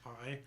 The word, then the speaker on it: Bai: I think that's pronounced Bai. Yeah. BAI.